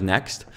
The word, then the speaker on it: NXT: I used iRender NXT, or Next, you write NXT, you pronounce Next.